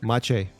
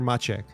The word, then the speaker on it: Maciej: Maciek? Maciej. Yeah. Maciej. Yeah. So the K is silent. So it's either Maciej or Maciek.